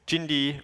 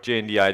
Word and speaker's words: JNDI: background was or is there is jindi or jndi depending on how you want to pronounce it the Java naming and